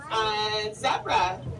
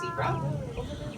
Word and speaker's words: zebra: Zebra, I do pronounce it that way because it is Afrikaans, and here in the United States, we are the only country that actually says it's zebra.